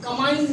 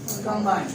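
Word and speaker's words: combine: यहाँ पर हम कमाइन नहीं कह सकते, हम प्रोनाउंस करेंगे कंबाइन।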